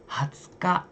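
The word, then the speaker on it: 二十日: Ini kanji ini bacanya ka di sini. 9 ka tanggal. 20日 Hatsuka itu tanggal 20.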